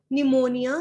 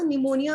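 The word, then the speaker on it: pneumonia: पी for pleuro, फिर पी फॉर निमोनिया, निमोनिया में P silent होता है, एल for like, O for organism.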